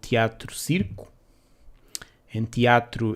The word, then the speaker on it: Theatro: called Teatro Circo, and teatro is spelled the old-fashioned way with a TH, but you still read it teatro instead of theatro.